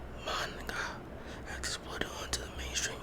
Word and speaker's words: manga: Originally a niche of genre of graphic novels originating from Japan, the popularity of manga, the correct pronunciation of the ancient speakers is manga, has exploded onto the mainstream over the last few years.